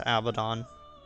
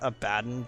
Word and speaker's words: Abaddon: And then I'll just hold on to Abaddon for later. By the way, yes, I do know that technically his name is pronounced Abaddon, but like, the name Abaddon is just so hard ingrained in my head.